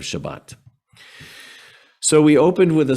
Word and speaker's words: Shabbat: people say harusa or because that's the ashkenazi pronunciation just like they say shabbos instead of shabbat so we opened with